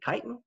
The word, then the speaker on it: chitin: of chitin that polysaccharide that people always mispronounced chitin it's actually chitin it helps maintain the